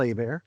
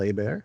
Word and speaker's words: Hebert: well i'm at a bear k-y-l-e-h-e-b-e-r-t it's spelt like hebert but it's pronounced a bear it's a louisiana name so at bear